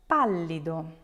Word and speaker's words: pallido: For examples, words like pallido, tavolo, zucchero. If you break those down, you will notice that the stress will fall on the third to last syllable.